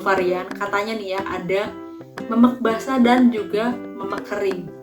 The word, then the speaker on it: memek: Jangan sampai salah karena dibacanya adalah memek, bukan pakai ya pakai itu maksudnya bukan dibaca me, dibacanya itu me.